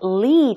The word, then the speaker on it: Lee: which is the L lee chunsoo then it would be AI and aa lee chunsoo fan but if you pronounce it the Korean way which is each chunsu then it should be